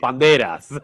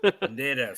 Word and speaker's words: Banderas: Yes, Banderas. Banderas.